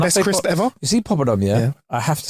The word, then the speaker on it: poppadom: Yeah, I'll have a poppy dom. Nah, mate, there's no Y in it.